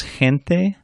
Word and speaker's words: gente: A soft G is like a Spanish J, which we said earlier is like an English H, so that h sound. That's when it's followed by a weak vowel, E or I, as in je or he.